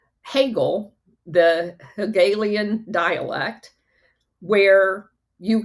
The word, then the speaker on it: Hegel: And another name for that is the I always pronounce this wrong. Hegel, the Hegelian dialect, where you can create these